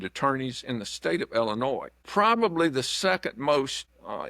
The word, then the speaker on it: Illinois: What we do know is there's no noise in Illinois, as the saying goes about pronunciation, but we can't despise the day of small beginnings.